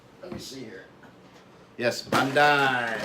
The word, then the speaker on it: Bandai: Am I pronouncing that right? Let me see here. Yes, Bandai. Bandai.